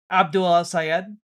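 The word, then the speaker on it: Abdul El-Sayed: Abdul sayed.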